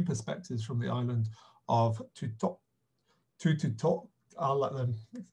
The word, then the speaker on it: Tuttotooq: we were calling it Tuttotooq, so exactly how you were saying it. At the end, we were chatting to some locals who were saying that it's pronounced, so T would be a D, so essentially it's just